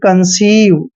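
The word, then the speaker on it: conceive: आई आया है तो जहां पर ई के बाद आई आता है तो ई आई का उच्चारण बड़ी की मात्रा करते हैं यानी कि कंसीव ठीक है तो ई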